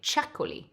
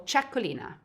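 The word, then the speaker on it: Txakoli: good value well this wine is called a chakuli or chacolina it's from the basque region of northern spain where the tx is pronounced as you might have heard of a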